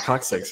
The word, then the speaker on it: coccyx: it correctly how do you say it Scott coccyx you know I think you pronounce it right okay so so there's some